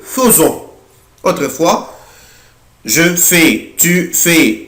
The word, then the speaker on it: faisons: خلي بالي ما بقولهاش faisons بقولها faisons.